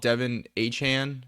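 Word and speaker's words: Achane: what do he say he wants him to be called Devin aan Devon aan is what how he like says it's actually pronounced but single ter is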